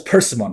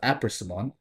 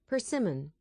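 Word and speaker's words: Paimon: Pronunciation. Oh, it's Pimon. Yes. Yes. Yes. It's not It's not apimon. It's a perman uh pronunciation. I need to make sure I'm correct. Pimmen.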